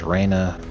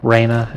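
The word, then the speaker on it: Rainha: it was spelled uh queen in Portuguese is also Raina it sounds exactly the same but it's spelled r a i n ha okay so Norm walked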